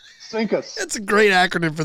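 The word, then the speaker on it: CINCUS: Do it one more time. Sinkus. Sinkus. C I N C us. Sinkus.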